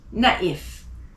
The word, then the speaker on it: naïf: And tréma, loïc, naïf. How do I know to pronounce the I more than the other letters? It's because of the tréma. So again, loïc, naïf.